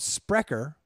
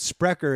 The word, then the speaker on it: Sprecher: beer so it's called sprecher sprecher what is it how do you spell that SPR e CH er yes prick his speak